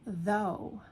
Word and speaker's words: though: Though, that has an O U in the middle, but it's kind of like an O o sound. And that gh at the end, completely silent.